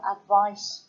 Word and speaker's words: advice: if you have an advice session with somebody that would be this is an adjective advice session so that's an S sound advice spelled with the seen and to give somebody